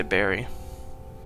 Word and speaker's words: bury: something it's so different I know technically bury is like the correct way to say it cuz or maybe not I don't know regional thing but I always just say Barry I don't know if it's Americans that say bur or no I'm going